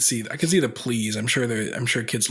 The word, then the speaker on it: Pleas: anything under the sun I've had people think I was French and pronounce my name plie uh with the spelling the most common is please and my wife's Paul